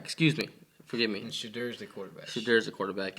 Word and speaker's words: Shedeur: Shakur? Is that how you say it? Shadur. Shadur. Yeah.